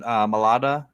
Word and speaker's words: Mailata: One of them is Jordan Mailata, and that's how you say it.